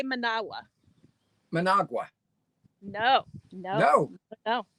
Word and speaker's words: Managua: hear how i say manawa managua no no no no no used to say managua most americans managua but when you're hearing nick same thing nicaragua when you're here you start listening manawa nicaragua they don't pronounce